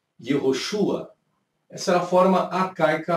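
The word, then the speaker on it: יהושע: Então você tinha o Yud, você tinha o Re e você tinha o Vav, que as pessoas pronunciavam Yehoshua.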